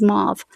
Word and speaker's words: mauve: Okay, for all my UK friends, this is how Americans pronounce it. This is mauve, but this is much darker than mauve.